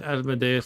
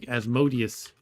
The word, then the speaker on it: Asmodeus: A lot of people pronounce Asmodus like Asmodius. So, I wonder if the people who pronounce it like that might not they might not get the joke in my uh thumbnail.